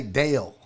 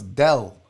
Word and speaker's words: Del: I used to say Dale, and then it was Joel. It would be like, nope, Barry, that's not how you say his name. I'd be like, it's Dale. He'd be like, no, it's Del Olaleye.